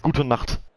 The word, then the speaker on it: Gute Nacht: It is Gute Nacht. It's not Gute Nacht. It's not Guten, it's Gut. It's Gute. Guten is like Guten Tag. It's Gute. There's no N, but you do pronounce the E.